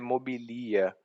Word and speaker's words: mobilia: That's the wrong pronunciation. It's a popular one, but that's wrong. It just occurred to me that actually the pronunciation of the first, second, and third persons in the singular, they tend to be in the present. They are actually like the noun.